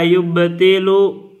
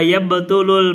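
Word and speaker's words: يبطل: Wa yubtilu al-mashu atau wa yabtulul mashu bisalasati asya. Ya, kita bacanya yabtulu biar tidak mutadi.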